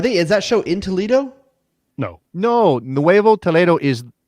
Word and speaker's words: Toledo: heard someone church up toledo i don't know sure how what that how that's how you say it you don't say toledo in spanish you say toledo that's the toledo's a spanish word yes there's a city